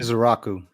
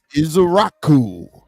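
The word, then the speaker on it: Ezeiruaku: We went Donovan, and please help me pronounce Donovan's last name correctly. Izaraku. Izaraku.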